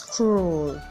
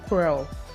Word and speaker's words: cruel: how you II l most Nigerians sound up the e in the world to mix something like crow whereas the world is pronounced as cruel so next time you want to use this world it is cruel and not pearl my fellow Nigerians it